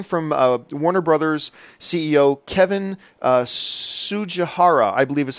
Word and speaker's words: Tsujihara: This came from Warner Brothers CEO Kevin Tsujihara, I believe is how you pronounce his last name. Tsujihara. I believe the T is silent.